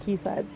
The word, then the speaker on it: quayside: Can't believe that's pronounced quayside. I learned it a while ago that Q-U-A-E is pronounced key, but it looks like quayside to I me.